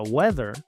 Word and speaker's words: weather: Esta palabra se pronuncia weather, porque la w se pronuncia u, después se pronuncia la e, la a es muda, la th se pronuncia con la lengua entre los dientes, luego la e es